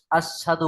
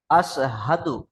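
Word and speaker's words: أَشْهَدُ: আসহাদু আল্লাহ ইলাহা ব্যাস, ইল্লাল্লাহু ওয়াস- ব্যাস। দেখেন এখানে আপনি বললেন আশহাদু, সিন দিয়ে উচ্চারণ করছেন, তাই না ভাই? জি, কিন্তু এখানে দেখেন তিন নক্তালা শিন আছে মোটা আওয়াজে, আশহাদু।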